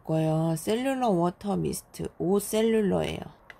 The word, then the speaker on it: Eau Cellulaire: 5셀룰러예요. 5셀룰러. 5셀룰러라고 읽네요.